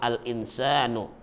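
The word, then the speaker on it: الإنسان: Coba diulang-ulang, al-insanu. Al-insanu jelas sekali terdengar huruf lamnya.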